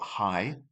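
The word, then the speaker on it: Hai: So, we've got hi, which is a shark. Hi. So, think of as high. Exact exact same pronunciation.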